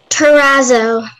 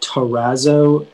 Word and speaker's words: terrazzo: hello all right your word is terrazzo terrazzo may ha have all the information please yeah so it can be pronounced terrazzo terrazzo terrazzo yeah those are the three pronunciations uh it's a noun